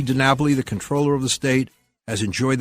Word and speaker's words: comptroller: French for computing but most people actually pronounce it controller but um technically it's